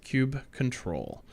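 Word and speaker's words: kubectl: on kubernetes 1.9 that the canonical pronunciation of coop CTL is cube control so make sense if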